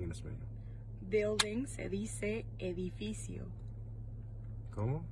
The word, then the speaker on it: edificio: Building se dice edificio. ¿Cómo? Edificio.